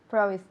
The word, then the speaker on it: promise: Promised. Again. Promised. Ok, en infinitivo, promise. Promised. No, al final, no hay nada al final. Promised. Promise. Promise. Yes. El último sonido es una S.